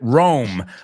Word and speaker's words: roam: Y ahí te acuerdas, Rome, R-O-A-M, es homófono para Rome, la ciudad, la capital italiana.